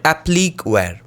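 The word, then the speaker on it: appliqué: one is what is known as the mud applic is spelled as a-p-p-l-i-q-u-e in this case the pots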